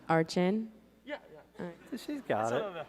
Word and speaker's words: Archen: Archen? Archen? Yeah, it's kind of like that. Of course, can you pronounce his name? Archin.